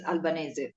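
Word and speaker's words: Albanese: with Franchesca albanes or Alban Franchesca how do you pronounce how do you prefer the pronunciation of your last name in my mother tongue it's Alban Alban okay wonderful of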